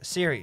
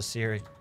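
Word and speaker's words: Ciri: There's a lot of words in English that start with the letter C. It sounds like an S. Like, for example, Siri from Witcher, right? Siri, she starts with a C, and it's also Siri.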